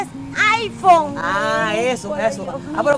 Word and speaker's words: iPhone: Es un es un ipone ipone no es ipone es iPhone Ah eso eso Ah Pero como se escribe como se escribe ipone no así no